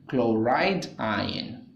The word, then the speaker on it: chloride: Now this is called sodium ion and this is called chlorine ion, but chlorine ion is not a correct way to say that. It is called chloride ion.